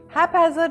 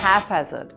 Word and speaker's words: haphazard: Many people see the ph in haphazard and say it like ff as in phone. It's not halfhazard.